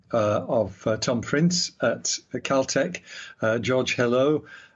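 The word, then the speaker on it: Helou: Prince at Caltech George hello hello I think is how you pronounce it h-e-l-l-o you know it could be hell ya know hello he said getting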